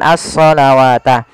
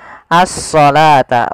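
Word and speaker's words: الصلاة: kita baca Dar dengan asalawata tapi di sini kita bacanya dengan asalata wau di sini dianggap tidak ada karena di sini dalam bentuk penulisan rasum utsmaninya wa aqimus shata Bukan shawata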